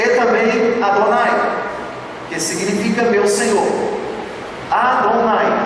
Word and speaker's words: Adonai: Elohim, Deus dos exércitos, e também Adonai, que significa meu Senhor. Adonai, reparem bem as vogais de Adonai. Também pronuncia-se Edonai, E-O-A.